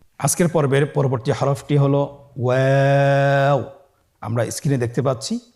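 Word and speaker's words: و: আমরা স্ক্রিনে দেখতে পাচ্ছি ওয়াও হরফটি উচ্চারণের ক্ষেত্রে বারিক হবে এবং 3 আলিফ টেনে পড়তে হবে। আপনারা আমার সাথে বলুন ওয়াও ওয়াও। 2 ঠোঁট গোল করে মাঝখানে ফাঁক রেখে হরফটি উচ্চারণ করতে হবে।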